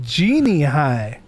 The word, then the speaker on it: Genie High: of those movies oh so this is Genie high that's how you say it it just translates to